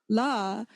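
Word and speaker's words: ལགས: use for our teachers, how do we pronounce that? La. We say gen la, trashi la, tsiring la. We don't say gen la, trashi la, tsiring la, do we? Because in the old days, this would have been pronounced lux. Lux. It just draws out a little bit until it naturally peters out when you run out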